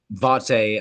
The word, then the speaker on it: Vate: Vate, I pronounce it Vate because that's the one time the voice did like kind of divulge from the creative work to say, no, no, pronounce it Vate. It sounds like a name.